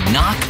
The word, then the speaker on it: knock: letter in kite and a silent k is also the first letter in knock over if you don't